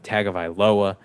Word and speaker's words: Tagovailoa: matt ryan from the atlanta falcons and tua tagovailoa i said his name wrong last time and dolphins fans slaughtered me uh tagovailoa uh they they have some pretty favorable matchups